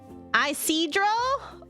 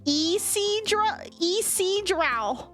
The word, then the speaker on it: Isidro: Isidro? Okay. It's more like Isidro.